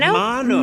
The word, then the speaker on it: Mano: Mano. Mano. If we're gonna state the name, we gotta Latinize it. Like me, I'm Mano.